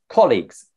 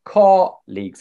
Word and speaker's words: colleagues: So it's two syllables. English, we say colleagues. The stress on the first syllable, colleagues. What the stress means, you make the syllable a little bit longer in length, just like a fraction longer. That's what it means. Colleagues. But I know that. In Russian, colleagues, the stress is on the second syllable.